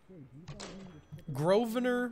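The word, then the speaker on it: Grosvenor: thanks for your help there's a silent s groer maccaffrey the way that sounds is g r o v e n o r homicide you know you made it why why wouldn't she just do that and she's like uh what and then You' be like you spell it g r o s v e n e r let me pose a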